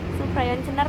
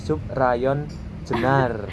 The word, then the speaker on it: Subrayon Jenar: Suprayon Cenar tuh apa? Subrayon. Ini bukan Subrayon bacanya Kak. Gimana? Ini bacanya Subrayon Jenar.